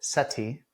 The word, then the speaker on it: Seti: So Seti and Yes, Matua, correct?